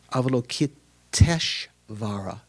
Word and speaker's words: Avalokiteshvara: so it's sort of Avalokiteshvara instead of Avalokita and Ishvara. The A and the I, the ending A and the first I combine together to come E. Avalokiteshvara, so it's extra syllable.